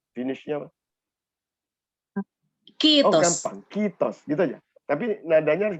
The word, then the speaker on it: kiitos: Ya, tapi I-nya kan ada dua, jadi K-I-I-T-O-S. Jadi I-nya harus panjang, jadi kiitos.